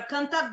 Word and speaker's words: контакт: Первый модуль – это когда мы говорим про контакт с большими деньгами. Здесь ударение на «о».